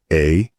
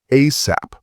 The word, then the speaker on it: ASAP: You can spell it out, ASAP, or you can say it like a word, ASAP.